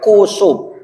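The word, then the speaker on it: kusuf: pengucapannya cuma beda hurufnya kalau gerhana bulan gu kusubnya itu tidak pakai h k u s u f kusub kalau gerhana matahari itu pakai h khusyuk dua rakaat habis itu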